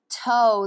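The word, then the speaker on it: τῷ: see that to ἔκτω, I'm pronouncing it that way because the second letter in to is omega with a iota underneath. So for those of you who don't read Greek like me, toe, the word he's talking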